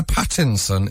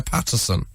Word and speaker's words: Patterson: And to my dismay, I realised that you pronounced my name Pattinson instead of Patterson.